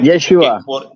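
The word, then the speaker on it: ישוע: vamos a usar no no digamos que Jesús sino yesus creo que usted sabe eso en el griego yesus O yeshua sí en el hebreo yeshua es correcto cuando Pedro dijo allí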